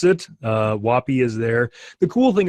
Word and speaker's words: WOPI: Brian Lawland said thinks it should be pronounced Wapee, I guess with the emphasis on the end. And Lori Gowan says she tries to pronounce it to rhyme with hoppy, which I guess the same way, though I would have said floppy or sloppy or some other funnier word.